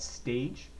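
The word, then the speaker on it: S7AGE: I'm dancing to a song called Stage. It's spelled S7 AGE.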